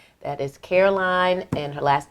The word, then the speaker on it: Caroline: Carolyn. That is Caroline, and her last name is spelled.